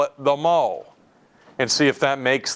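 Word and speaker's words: mho: not making this up the unit that we measure this it is called the mo MH o it's spelt backwards and that's not by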